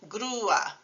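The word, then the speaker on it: grúa: Another example is UA, which is normally one syllable, as in guapo, but the accent mark on U turns the word crane into two syllables, grua.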